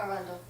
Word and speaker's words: Arundel: We played with Livingston Taylor in Arundel, Maine last night. Did I say that right? Arundel? Yes, Arundel.